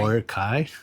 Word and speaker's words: Boracay: Boracay.